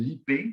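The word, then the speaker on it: ipé: On a beaucoup utilisé un bois qui s'appelle l'IP, ça s'écrit IPE accent aigu, qui a l'avantage d'être très dur et très durable et très pratique pour le mobilier urbain.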